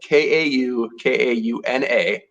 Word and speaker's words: Kaukauna: People look at it, and it's spelled Kaukauna. It's like Kaukauna.